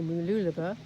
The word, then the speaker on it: Mooloolaba: It's supposed to be very pleasant, but it looks now as though in order to get to Mooloolaba, let's say it correctly, Mooloolaba, get across the river entrance there, I've got